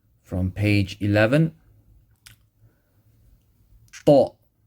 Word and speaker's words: ط: Ta. Same as ta, but with the full mouth.